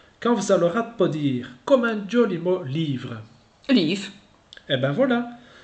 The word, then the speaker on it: livre: “Lîfe” There we are! Words ending by “ve” are pronounced “f” like “life”.